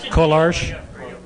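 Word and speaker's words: Kolář: Literally wheeler, pronounced Kolarsh.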